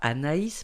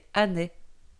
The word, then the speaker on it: Anais: Afrique mais à ané qui ne se prononce pas Anaïs mais anné là où vivent les